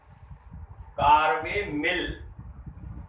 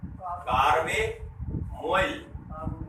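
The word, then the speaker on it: carbamoyl: क्या बोल रहे हो, कार्बे, कार्बे मिल, यह बेटा मोइल होगा, कार्बे मोइल।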